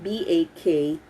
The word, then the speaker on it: bakwit: Did you know that in these evacuation centers, an evacuee in the common language is called bakwit, as in it's spelled like BAKWIT, bakwit.